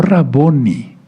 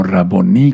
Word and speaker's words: Raboní: No Raboni, sino Raboní, con acento en la I, porque todo lo que termina así en hebreo se acentúa al final, como palabra aguda, ¿sí?